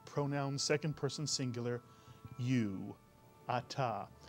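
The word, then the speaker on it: אתה: look at this pronoun it has two vowels two syllables it's a very simple hebrew word to read the first syllable is ah the second syllable is ta you put the word together you get atta mitsuyan and now if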